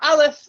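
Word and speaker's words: א: So we have so far aleph, which makes no sound, the bet, which makes a b sound, and the B.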